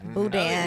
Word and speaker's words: boudin: Boudin.